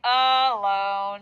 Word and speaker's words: alone: Now, here's the thing about alone is it is a thinking word because we have to think alone, but we say alone.